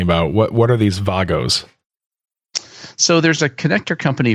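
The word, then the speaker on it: WAGO: what you're talking about what what are these Vagos so there's a connector company from Germany that's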